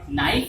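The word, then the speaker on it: knife: कैसे, के एन आई एफ ई, किनाइफ, किनाइफ, अरे नहीं बिल्कुल नहीं, ये गलती मत करना, बिल्कुल भी किनाइफ नहीं है, नाइफ है। क्यों, क्योंकि ये जो के है ना, इसको हम क्या कर देते हैं, साइलेंट कर देते हैं, इसका जो साउंड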